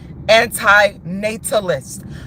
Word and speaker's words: anti-natalist: And people, that's why I am a staunch anti-natalist.